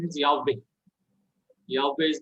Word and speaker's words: Yahweh: the correct pronunciation is Yahweh. Yahweh is the correct pronunciation. Why? Because the first syllable of the word which we get in Psalm 150, praise Yah or hallelujah.